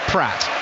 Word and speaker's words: Praet: And the way they wrote Dennis Praet, who I'm calling him, was actually Dennis Pratt.